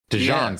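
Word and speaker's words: DeJean: the P say dejon If he if he says dein I think he's pronouncing it wrong dejon sounds right hang on I'm gonna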